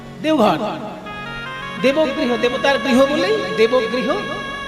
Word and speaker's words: দেওঘর: দেবগৃহ, সেখান থেকে বাংলা হিন্দিতে দেবঘর, তারপরে এখন বটা ওতে পরিণত হিন্দি উচ্চারণে দেওঘর হয়ে গেছে।